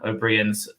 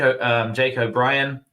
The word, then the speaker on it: O'Brien: So it's pronounced like the name Brian.